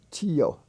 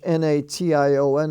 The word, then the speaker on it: nation: the ti was pronounced tio tio as a nation not tion but in english n-a-t-i-o-n is pronounced nation station ration or ration